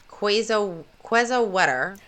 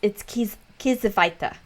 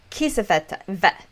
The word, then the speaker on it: Kiesewetter: It's a warm spring day with two police officers, 22-year-old Michelle Quezawetter. Well, Quezawetter. here's a little. I did Google that. Well, it's Kiesewetter because the W's in German are pronounced as a V.